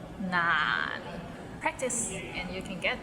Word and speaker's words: 難: So it starts with n and ends with another n. 難 and it's in a low tone, so 難. Practice and you can get there. 廣東話唔難.